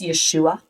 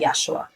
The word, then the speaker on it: Yeshua: So for any potentially Jews that are listening, the pronunciation in Hebrew and Aramaic is Yeshua, but he says that Yeshua is fine as well,